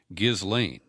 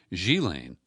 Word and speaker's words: Ghislaine: I used to pronounce it Ghislaine, and that's phonetic. It's spelled Ghislaine, but it's a French name, and it's pronounced in a French manner, Ghislaine. Ghislaine Maxwell, the daughter of